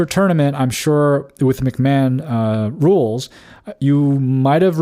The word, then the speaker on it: McMahon: gone to one that is set up with McMahon rules. Uh McMahon is set up is spelled M C M A H O N.